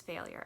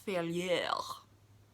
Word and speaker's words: Failure: guy's last name is failure after all though he would tell you that failure is actually a French last name and it's pronounced to fail yell one of the mysteries